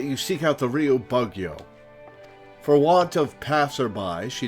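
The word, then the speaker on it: 奉行: the plant pot and correct your pronunciation of Bugio. Oh, it's Bugyo. Ah, I gotcha. Probably, given the way most Japanese syllables end with an open vowel, except for ending in N.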